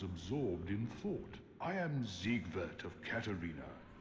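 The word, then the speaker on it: Siegward: I am Ziegvert of Katarina. I just realized the fact that it's not pronounced ward. It's from Sigvert.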